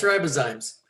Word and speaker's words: ribozymes: Yeah, it's ribozymes. And this slide shows where that comes from. Ribozymes are a form of RNA that is catalytic.